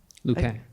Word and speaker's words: Lupin: I don't know how to pronounce it. Is it Lupin? Lupin.